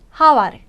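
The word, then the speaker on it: хавар: 발음이 났네 네요 다음 하와르 하와르 몽골어로 봄이라는 뜻이고요 하와로 발음되고 때문에 이응 발음이 되겠고요 마오가 바오가 역시 가운데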